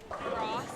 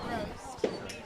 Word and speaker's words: Rost: Rost. Like Rost. Frost, Okay. not roast.